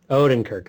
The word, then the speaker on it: Odenkirk: Odenkirk.